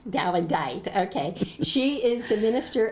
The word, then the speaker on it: Dawedeit: I didn't pronounce that right, did I? Dawedeit. Dawedeit, okay.